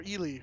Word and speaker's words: Ely: We only made it as far as Eli or Ely. I always want to say Eli, and it's not Eli.